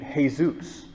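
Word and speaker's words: Jesús: known Mexicans who name hey Zeus the the Spanish pronunciation of the name Jesus I've also non Mexicans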